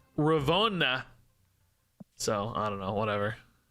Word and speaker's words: Ravonna: I think it's pronounced Ravona in Loki when they were talking to her the other day, but that also makes no sense to me because at least in English, American English, O-N-N-A is pronounced Anna, like Donna. You don't say Donna, Ravona.